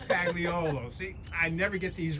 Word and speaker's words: Pagliolo: Did I pronounce that correctly? Close. It's Close. Pagliolo. Pagliolo.